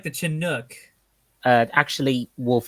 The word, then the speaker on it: Chinook: it's almost like the Chinook. Actually, Wolf, it's pronounced Chinook. Chinook or Chinook, Oh, whatever.